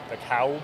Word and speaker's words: DeKalb: Up there it's DeKalb County. DeKalb? They say that L.